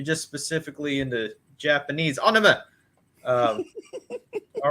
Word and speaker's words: anime: in japan so why people are it's actually pronounced anime anime uh so people say oh yes i'm really into anima um that means cartoon you